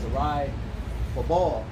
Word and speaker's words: Zerubbabel: I was going to say just a quick point, because Zerubbabel is Zerai Babal, right? That's how you say it, Zerubbabel in the Hebrew.